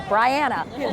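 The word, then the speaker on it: Briana: A lot of people say Brianna. I'm telling you now, it's Brianna. Rhymes with Diana.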